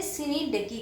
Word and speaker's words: synecdoche: यस, हम इसको pronounce करते हैं सिनीडकी करके।